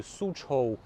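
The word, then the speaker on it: Soochow: It's spelled written in an old way, so it's not Suzhou. It's S-O-O-C-H-O-W. Suzhou. Yeah, because it was a Shanghai dialect at the time when the concessions were evolving here.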